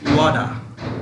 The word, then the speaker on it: water: অর্থাৎ আমি বলছি এখানে ওয়াটার নয়, বাংলা দেশের মানুষরা ওয়াটার পড়ে। This is নট ওয়াটার, this is correct pronunciation, অর্থাৎ কারেক্ট সঠিক প্রনাউন্সিয়েশন ওয়াডা, ওয়াডা, লেডা। কেমন? লেডা মানে লেটার, আমরা যেটা লেটার পড়ি সেটা সঠিক উচ্চারণ লেডা। এখানে ওয়াটারের সঠিক উচ্চারণ ওয়াডা। ওকে, হ্যাঁ, তাইলে আমি এই